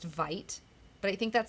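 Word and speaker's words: Veidt: off your cat, Marsha, call off your cat, Veet. And I was listening to the Motion comic, by the way, and they were saying it's Vite. It's pronounced Vite.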